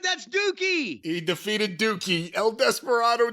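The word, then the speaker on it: Douki: listen d o u Ki how do you pronounce d o That's dookie he defeated dookie El Desperado defeated dookie Tokyo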